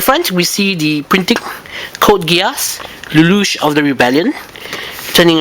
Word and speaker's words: Code Geass: the Cod Gas series of reviews that is code gas and not code GS as some people pronounce it incorrectly um all right code gas